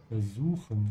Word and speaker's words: versuchen: to say versuchen, and in the northern version, you pronounce it more like a Z.